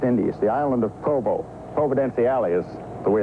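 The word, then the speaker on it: Providenciales: the British West Indies the island of Provo proven Alle is the way it's actually pronounced but the natives around here all call it Provo we've come down at their invitation here at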